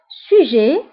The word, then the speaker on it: sujet: Sujet. Sujet, huwa, maudou. Sujet. Sujet. فبالنسبة للسوجي كنكتبوها بالتي فبالنسبة للسوجي كنكتبوها بالتي في آخر الكلمة ولكن لا تنطق سوجي موضوع لو تالون